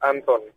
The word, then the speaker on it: Anton: I'm guessing it's spelled A-N-T-O-I-N-E? No, for some reason you just assume it's Antoine. It's Anton. A-N-T-O-N.